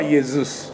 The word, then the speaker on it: イエズス: ないんだまギリシャ語の正確な読み方はイエズスですよイエズスだからそれ